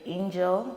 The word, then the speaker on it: Ingel: So for my first name, it's like Angel, the way you would pronounce an angel, but my dad is like, you're my angel, so I will name you.